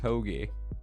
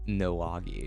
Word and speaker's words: hoagie: Oh, it's just hoagie, not Noagi.